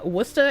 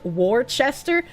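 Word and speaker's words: Worcester: As a World of Warships player, you love to say uh Wora as Warchester.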